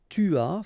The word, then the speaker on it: as: Okay, so j'ai, tu as, final S not pronounced, il a, elle a,